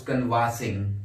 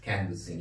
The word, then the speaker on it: canvassing: what you call canvas team sometimes people also mispronounce this word by saying I was conversing people were conversing which is actually wrong the correct pronunciation is only canvas canvassing he was canvassing they were canvassing let us